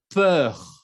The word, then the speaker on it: peur: Ensuite, peur. Ahí tenemos que escuchar la R al final. Peur. Como las palabras con E-U-R, sí se escucha la R como il meurt, la peur, l'heure, ¿ok?